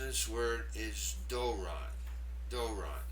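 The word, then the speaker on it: δῶρον: The pronunciation of this word is doron. doron. That first syllable is stressed.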